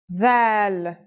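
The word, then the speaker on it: ذال: This letter's pronunciation is a voiced sound, the, as in this or that. It's pronounced with the tongue between the upper and the lower teeth.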